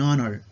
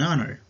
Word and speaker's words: honor: be silent sometimes so when the letter h is silent we are going to use an for example an honor an hour our owner